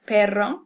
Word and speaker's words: perro: We have perro, meaning dog, which is another thing we can contrast with pero, with one R, which means but.